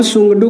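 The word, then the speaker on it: Tshogdu: जब आप सोंगडू को इंग्लिश में लिखते हैं, ये टी साइलेंट होता है और ऐसे सोंगडू पढ़ा जाता है।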